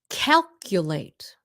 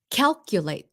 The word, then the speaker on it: calculate: And I'm just trying to teach you how to properly and correctly pronounce it. Okay? So if you're sensitive, bye. If you're sensitive. Okay, here we go. Calculate. Calculate. Tính toán. Calculate.